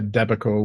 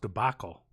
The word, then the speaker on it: debacle: not have a a deico with the poison ivy I think it's pronounced debacle did you really did you